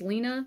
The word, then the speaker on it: Lina: like that Lena Lina I think it's Lena but with an i l i n a um so this is